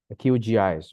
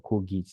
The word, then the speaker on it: QGIS: of a software called qgis or KS depending on where you head uh you are coming from or how you prefer to pronounce it uh qgis just to